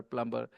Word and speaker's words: plumber: it's a plumber, yeah, plumber. Yeah, its pronunciation is plumber.